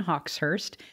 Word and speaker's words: Hawxhurst: my name is hawkhurst pronounced Hawks like the birds and then Hurst like a dead people car with the T on the end of it and not those are